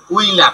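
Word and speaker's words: Wöhler: আর এটা ভোলার উচ্চারণ করে বাংলাদেশে, ভকারে ভোল, আকারে লা, র, বা কেউ উচ্চারণ করে উইলার, রস ও রসই, উই, লয়াকার লার, উইলার, উইলার, ভোলার।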